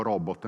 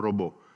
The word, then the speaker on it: robot: termine, perché avete notato, io dico robot, non robot. Non si capisce perché, per quale ragione spesso anche nei servizi televisivi, anche autorevoli giornalisti, anche a volte esperti di robotica continuano con questa, diciamo, pronuncia un po' francofona, no? Perché robot deriva dallo slavo robota, che significa letteralmente da